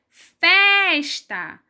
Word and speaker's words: festa: Vamos para a próxima palavra, que é festa. Festa. Festa. Na palavra festa, a sílaba que eu pronuncio com mais força é o fez. E o fez também está em penúltimo lugar, que é antes do último.